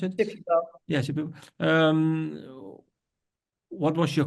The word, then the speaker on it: Shipibo: teachers it's Shipibo, how do you call it, pronounce it? Shipibo.